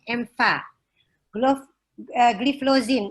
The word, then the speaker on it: empagliflozin: Nauli akan menyampaikan translating EMFA, gliflozin. Ini salah ya dari panitia pakai F, jadi orang Sunda banget. Harusnya pakai P, papa ya. Dia pakai F. Saya orang Sunda, jadi saya bacanya tetap aja P.